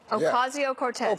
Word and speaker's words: Ocasio-Cortez: I can't pronounce her last name. How is it? Ocasio-Cortez.